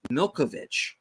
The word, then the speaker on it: Malkovich: it's it's weird John malkovich's name is actually pronounced Milkovich okay all right uh during the fight at